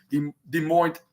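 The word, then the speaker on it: Des Moines: de Mo uh Iowa that's how it's pronounced de de moint Iowa and this where where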